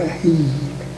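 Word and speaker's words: Waheed: That's that's pronounced there about like that. Micah. Micah. Wah. Wahed.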